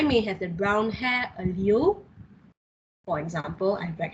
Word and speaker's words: allele: Genotype is alleles possessed by organism. I'm trying to pronounce alleles right.